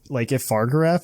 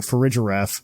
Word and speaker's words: Farigiraf: If they do that, if Fargraf is stuck in Paldea, so help me God, Game Freak, I'm coming for you. Like, oh, I think I said it wrong. Farigiraf, like refrigerator giraffe.